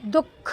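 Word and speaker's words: दुःख: दुख मतलब हल्का सा साउंड द के बाद में ही ह का आता है इसमें।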